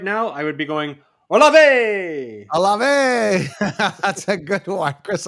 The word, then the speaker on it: Olave: Let's just say if we were bullfighters right now, I would be going, Olave!